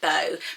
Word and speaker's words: Beau: and repeating the earth rogery bow but it's b-e-a-u of course the different spelling i think it looks